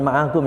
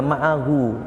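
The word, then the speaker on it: معه: Ini bukan ma'agum ya, ma'ahu, bersama dengan Kanjeng Nabi.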